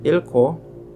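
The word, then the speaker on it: 읽고: Dan ada beberapa pengecualian yaitu untuk kata ilko di mana ikta dan gabungan dengan kata hubung akan dibaca real-nya. Kalau sebelumnya kan yang dibaca giaknya. Untuk pengecualian ini yang akan dibaca adalah real-nya. Jadi kata ikta dan kata penghubung go digabungkan yang akan dibaca adalah realnya yaitu ilko.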